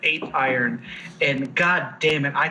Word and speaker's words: Apeiron: Ooh, it's actually pronounced Apeiron.